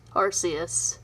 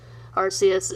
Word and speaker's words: Arceus: legends arceus and that is actually how you pronounce arceus that's the correct way rps is not correct arceus is the original pronunciation and yes so anyways